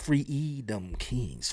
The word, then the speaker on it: Freedom Kings: Cuz you got to say it like freeom kings.